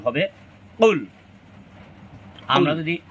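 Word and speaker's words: قُلْ: বলার চেষ্টা করবো আমরা জিহ্বার গোড়া তার বরাবর উপরের তালুর সঙ্গে লাগাইয়া মূলত কফ উচ্চারণ করতে হয় এখানে যদি আমরা কাফের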